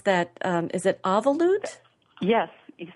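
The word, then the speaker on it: אבלות: Is it avalut? Yes, you said it just right. It's a Jewish term. Well, it's from the Jewish tradition. It's a Hebrew term, avalut.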